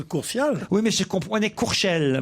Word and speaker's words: Courtial: Mais en plus, on prononce Courtial.